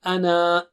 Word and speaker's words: أَنَا: Here, whenever أَنَا comes in between, like here, and you're reciting continuously, then you don't say أَنَا. Just say أَنَا. Okay, just say أَنَا. You don't pronounce that mad.